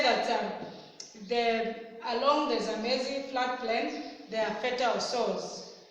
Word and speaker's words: Zambezi: So this name, that's where we got our country's name, is pronounced as Zambezi actually, not Zambezi. Most of us like saying Zambezi.